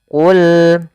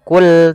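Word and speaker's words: قُلْ: Pada lafal qul di sini ada lam, alirkan lamnya. Qul qul qul, bukan kul tapi dia qul al, ya.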